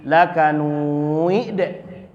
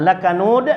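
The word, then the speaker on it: لكنود: Tapi bisa saja saudara kita dari Sumatera Barat membacanya innal insana lirabbihi lakanuid. Nah, lakanud menjadi lakanuid. Pak bacanya lakanud.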